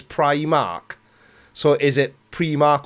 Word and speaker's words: Primark: you rob I'm called we call it pre mark but apparently the correct pronunciation is Primark so is it pre